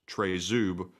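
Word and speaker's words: Тризуб: Trident you refer to is actually called a tri-zub actually says it's pronounced trezub this is the symbol of the Ukrainian Independence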